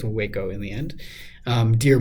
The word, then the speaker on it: Waco: uh wo Texas I have double check the pronunciation of that, but I think it's Waco in the end.